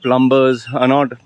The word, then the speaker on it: plumber: The second thing is, my core audience are not plumbers, Plumbers, you say. Yeah. One of you had corrected me last time. Not plumbers. I used to pronounce it as B. My Malayali English, plumber. Okay, plumber.